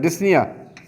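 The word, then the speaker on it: dyspnea: तो यहाँ पर डिस का लफ्ज़, इसके साथ अगर पनिया का लफ्ज़ लगे, इसमें पी साइलेंट होता है, डिस्निया, तो यहाँ पर आपके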